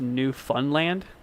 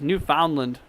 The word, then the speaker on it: Newfoundland: Uh Gringo says it's pronounced New Funland. What? New Funland? Really? I always heard it was New Foundland or Yeah, New Foundland, New Funland.